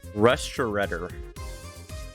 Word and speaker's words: restaurateur: American Restaurateur? What is that word? I have never seen that word before in my life. How do you pronounce that? Strateur. Strateur. Strateur. Restaurateur.